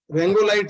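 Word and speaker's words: Rongalite: Spelling आप देखिए इसकी, इसको एक्चुअली क्या है, हम रोंगेलाइट सी ऐसे लिखते हैं, लेकिन ये रेंगोलाइट, रेंगोलाइट सी जो है वो इसको बोला जाता है रेंगोलाइट सी, ठीक है।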